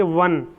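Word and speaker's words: one: लेकिन जब हम इसका उच्चारण करेंगे तो हम बोलेंगे वन, तो वह जो है कॉन्सोनेंट है, इसलिए वन से पहले हमेशा ए का प्रयोग होगा, एन का नहीं होगा।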